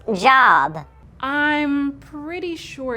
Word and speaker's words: Job: It's pronounced Job. I'm pretty sure it's Job.